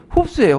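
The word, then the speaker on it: 胡適: 호적의 그 중국식 그 발음이 흡수예요, 흡수.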